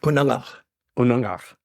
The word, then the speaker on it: Unangax̂: Unaf.